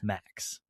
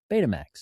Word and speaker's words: Baymax: Baymax. Betamax.